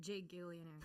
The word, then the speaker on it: Gigillionaire: And by the way, Gigillionaire is G-I-G, all capitalized. I pronounce it Jigillionaire.